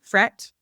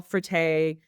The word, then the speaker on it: Frette: It's fret. What is it? Frette. Frette. Okay. So like Yeah. a couple times I've had homeowners where they're like, we have all frette linens, and they even do like the kitchen towel.